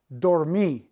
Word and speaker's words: dormí: Preterite, I slept a lot, dormí, with an accent on the I.